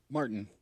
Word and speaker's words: Martain: Do you pronounce that Phage? Is that how you say that? Martain. Martain? Martin. Are you sure? Martin. It's just Martin.